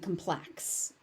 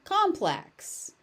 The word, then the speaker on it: complex: So, as an adverb, you should be saying complex, but as a noun, you should be saying complex. For the most part, you